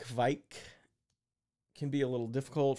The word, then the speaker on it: kveik: word but that said some Norwegians I spoke with didn't seem to say the V sound as much and their pronunciation sounded more like quite quite another way was quake sort of like earthquake you can hear that